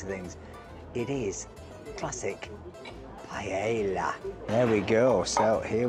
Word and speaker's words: paella: You notice my Spanish pronunciation, paella.